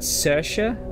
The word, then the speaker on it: Saoirse: Because I think you pronounce that Saoirse, I think it is.